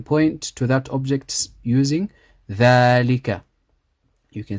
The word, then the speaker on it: ذلك: ذلك. We read it like this, but we write it like this. So there's an alif here which is pronounced but not written.